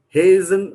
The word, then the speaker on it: hasten: T is silent. We don't pronounce the T there. So the word is just pronounced hasten.